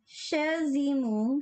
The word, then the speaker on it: Shizumu: Tapioca said, for my Sumeru ones, Shizumu, Shizuma? Shizumu. Oh, there we go.